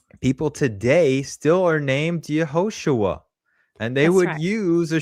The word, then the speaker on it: Yeshua: iron at the end if you understood the Galilean way of pronouncing the iron. Because in the in Jerusalem, Judea, the the southern part, they did not pronounce the iron the proper way. They pronounced it just as an uh an A sound. Are you But, in the Galilee section, they pronounced it correctly and they used the upward nasal ah Yeshua.